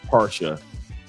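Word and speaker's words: Pasha: And I know Cartiera is not how you pronounce it in French, but it's para. P A R S H A para col.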